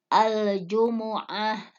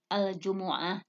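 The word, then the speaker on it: الجمعة: masuk ke juz 28 bahwa kata Jumuah lebih dibaca dengan 2 cara ya yang pertama itu mendongakkan huruf mim al-jumu'ah Nah kita sering mendengarkan kata-kata al-jumu'ah atau juga ada yang membacanya itu dengan minimnya disukunkan ya al-jumu'ah Nah itu saat membacanya Kenapa dinamai al-jumu'ah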